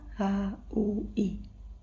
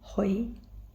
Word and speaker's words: hui: Ditulisnya H u I. Nah, bacanya bukan hui tapi hoi dan seterusnya.